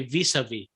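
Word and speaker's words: vis-à-vis: I definitely don't pronounce the second S though.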